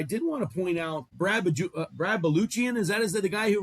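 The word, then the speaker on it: Brad Balukjian: But Brad Baluchian is how you say his name.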